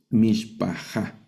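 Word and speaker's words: משפחה: Mishpajá.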